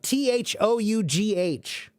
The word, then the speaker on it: though: Though, T-H-O-U-G-H. How many of you hate that word because you don't understand why do we have all these extra letters? Why is it pronounced though, but they have the O-U-G-H?